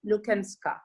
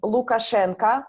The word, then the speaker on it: Lukashenka: of dictatorship under alexander lukenska so the surname of this person is lukashenka but i maria like the way you pronounce it it sounds like ciao a little bit it gives us the